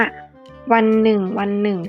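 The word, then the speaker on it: วันหนึ่งๆ: คำ ว่า วัน หนึ่ง เวลา อ่าน ก็ ต้อง อ่าน ว่า วัน หนึ่ง วัน หนึ่ง ฉัน ต้อง เดิน หลาย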